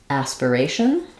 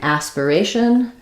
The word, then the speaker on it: aspiration: pattern which is that anytime we have shun at the end of a word like in nation communication Etc we stress on the syllable before the shun so the a is the clear vowel that's stressed um we do in four